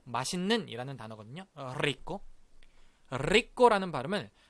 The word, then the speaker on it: rico: rico. rico라는 발음을 할 때 우리가 앞에다가 D 발음을 넣는 거예요. 자, 굴리지 못하더라도 D 발음을 넣어서 이렇게 발음 한번 해볼게요. drico. 다 같이 drico, drico, drico.